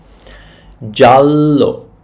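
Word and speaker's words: giallo: a bit tricky sometimes G is pronounced G sometimes J jalo and we have a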